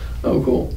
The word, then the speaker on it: Okul: How do you pronounce it? O-K-U-L. Oh, cool.